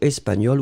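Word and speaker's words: espagnole: So espagnol with a final E. You pronounce them the same way, still you should write it properly.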